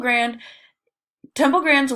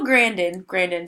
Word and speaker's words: Grandin: Temple Grand's work has proven that humane slaughter is something that can be accomplished. So Grandin, sorry guys, I was mispronouncing that.